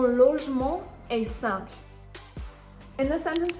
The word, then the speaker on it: logement: With logement, the N is part of the nasal sound en, so it's not going to be pronounced.